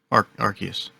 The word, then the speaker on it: Arceus: see pokemon legends archaic arceus how do you pronounce it mark arceus arceus okay so you got that you got